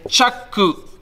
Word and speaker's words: chaku: And chaku, although the U should be silent, is actually the second part of the word. And this literally means two chaku, which is feet, okay?